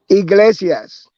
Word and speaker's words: Iglesias: Iglesias.